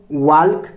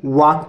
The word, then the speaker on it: walk: उसके बाद यहाँ पे WALK, इसको वॉल्क नहीं पढ़ेंगे, वॉक पढ़ेंगे। क्या पढ़ेंगे? वॉक। ठीक है, एल साइलेंट होता है इसीलिए वॉक पढ़ेंगे।